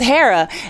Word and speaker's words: Hera: O'Hara I keep staying here we're here with Hera and it's how I pronounce like here like Greek god no the